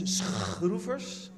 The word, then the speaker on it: Schroevers: And usually when I pronounce my name as it should be pronounced, people ask me if I have a throat disease or anything else, but have no fear.